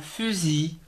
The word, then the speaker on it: fusil: le mammouth passant à des mots on ne prononce pas le elle finale comme un fusil f une fut f il faisait un fusil